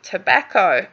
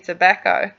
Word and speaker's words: tobacco: an issue there, or some doubts pronouncing tobacco. Tobacco. So I would go with the sound. Here we've got an a as in cat. Tobacco. Here we've got a k and we've got an o as in phone.